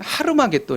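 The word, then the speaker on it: הר מגידו: 것으로 왕들을 모두 돌아 아마겟돈 을 정확히 발음하면 하루마 게 또 입니다 그래서 하루 라고 하는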